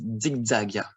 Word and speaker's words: zigzagia: The Z, it's also a letter from Greek, and the best is to pronounce it D. Like here, Drosera zigzagia. We could also say zigzagia, but the best is zigzagia.